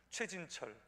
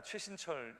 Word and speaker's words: 최신철: 않으셨으면 발음하기 되게 힘듭니다 최진철 아닙니다 최신철 있데요 저도 저 스스로 왜